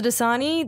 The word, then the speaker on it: Dosani: And I'm Dasani. That is spelled.